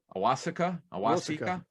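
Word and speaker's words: Awosika: the next one i don't know how to pronounce his name is he's an offensive tackle coyote a-w-o-s-i-k-a awasika yeah okay university of buffalo now this is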